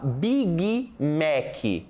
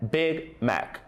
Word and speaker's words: Big Mac: Olha só como a gente fala, Big Mac, certo? Esse é o problema. Por quê? A pronúncia correta é Big Mac. Big, e não big.